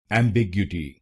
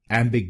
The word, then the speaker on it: Ambiguity: this word wrong like am big so let's understand why this pronunciation is wrong and what is its correct pronunciation. Its correct pronunciation is emgu emgu. There are five syllables in this word.